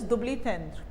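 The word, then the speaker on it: double entendre: This is डबल इंट्रेंडे, but this is a French word, pronunciation is दुब्लीथेंद्र, दुब्लीथेंद्र, that is, इसे हम कहते हैं risky, और इसे आप कह सकते हो सजेस्टिव।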